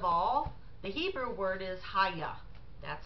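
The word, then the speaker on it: היה: well first of all the Hebrew word is haigha that's how it's pronounced spelled ahay aah and when you look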